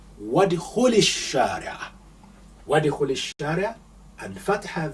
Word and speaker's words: ادخل: Here you don't hear the alif being pronounced because we have suppressed it, because this is a weak alif. you say wadkhul.